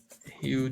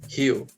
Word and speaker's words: Rio de Janeiro: Rio de Janeiro. Right here. Okay, so even if you are not a Brazilian, you probably heard about Rio de Janeiro before. Yes, and I say Rio, not Rio. Rio is like the English pronunciation.